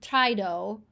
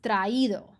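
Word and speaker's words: traído: vowels back to back they want to make sure that you're pronouncing both of these so that you don't say Tido it's traido so you have to put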